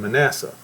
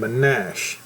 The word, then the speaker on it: Manasseh: They would say if Ephraim and Manasseh, but you know, it's actually pronounced Ephrame and Manashe.